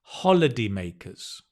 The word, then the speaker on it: holidaymakers: Travelers, holidaymakers. Good. I like it. Notice the stress is on the first syllable.